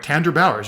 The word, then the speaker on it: Tandra Bowers: So with that, I'm pronouncing your name right, Tandra Bowers, right?